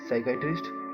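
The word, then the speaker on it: psychiatrist: आर आई एस टी तो बोलने में साइकेट्रिस्ट लेकिन लिखने में पी से स्टार्टिंग होती है विशेष ध्यान रखना इस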